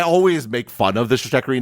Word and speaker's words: Stratechery: And then I quickly realized that was a very bad idea because it is strategy and tech, so it should be Stratechery.